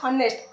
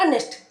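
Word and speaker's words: honest: already what we call we call it नॉट हनेस्ट ऑनेस्ट अनेस्ट boy okay so O here produce O sound produce here okay हालांकि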